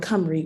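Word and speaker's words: Cymru: asking is why wells um or read which is how you say it in welsh i studied abroad at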